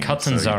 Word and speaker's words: Catanzaro: It's an Italian name. Catanzaro. So you just pronounce it very like Latinate, Yeah, so I wanted